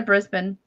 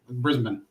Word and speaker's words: Brisbane: pretty pretty small I guess they're going to Brisbane yeah flying straight in this time did I